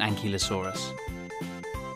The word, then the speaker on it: ankylosaurus: velociraptor how do you say that again an key low saw russ how big was an ankylosaurus it was as long